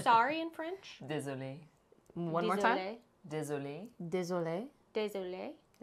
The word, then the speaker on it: Désolé: Désolé.